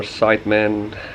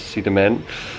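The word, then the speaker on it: Sidemen: drove from ubud to see the men or side men it's just how you want to pronounce it but i think the proper pronunciation is see the man and actually we found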